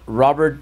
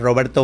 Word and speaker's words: Roberto: Welcome back to Driven Channel, and I'm here with a special guest, Senior Robert Barron. Did I say it right? Señor Roberto Barron.